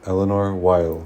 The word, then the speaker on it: Éléonore Weill: Well, your full name is Éléonore Weill. Éléonore. Éléonore? Yeah. Okay. Also, I go by because I have an extra vowel. Éléonore Weill. Yeah. I pronounce Weill like Oy-Vey.